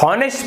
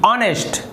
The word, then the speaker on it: honest: HONEST, तो इसे आप हॉनेस्ट पढ़ेंगे, हॉनेस्ट ईमानदार, लेकिन इसे हॉनेस्ट नहीं कहते। यहाँ पर भी जो H है वो साइलेंट है, तो अब इसे क्या पढ़ेंगे, ONEST, ऑनेस्ट।